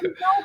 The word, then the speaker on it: Meow Meow: Meow Meow things. We we have to sort of like calling a cat to go Meow Meow Meow.